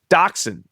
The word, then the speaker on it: dachshund: The first one is dachshund. And that is, it's not, you can't spell that one phonetically. It's DACHSHUND.